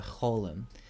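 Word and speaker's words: חוֹלֶם: see quite often the Holum this is the long o sound it's pronounced like the O in roll so we fill in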